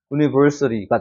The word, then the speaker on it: university: 그 다음에 CT가 아니라 여기 슈아 발음이 적용이 되니까 어떻게 돼요? university가 되는 겁니다. CT가 절대 아니라 university가 되는 거예요.